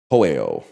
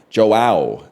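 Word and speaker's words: João: You say it like Joe. Okay, I was going to say Hoeo. So Joe is Joao.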